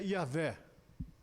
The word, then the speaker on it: Javé: Essa palavra, essa letra I, em hebraico, ela se atrela ao J. Por exemplo, Javé se pronuncia Iavé. Então, como Jó, Ió.